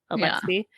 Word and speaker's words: Alexei: It's Alex with an EI on the end. Alexei.